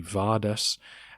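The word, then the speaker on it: Bardas: about here the name bardis was a popular Armenian name it can be pronounced with a V so in some texts you see vardas and the similar Banes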